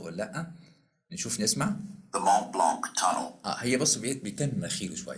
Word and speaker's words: Mont Blanc: يعني بص الكلمة دي Mont Blanc tunnel دي زي مكان بيعدوا منه.